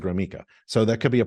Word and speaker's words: Gromicko: you how do you there's no e in it and but I pronounce it gromo so that could be